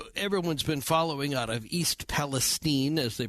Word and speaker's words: East Palestine: So there's a big story that everyone's been following out of East Palestine, as they pronounce it, Ohio.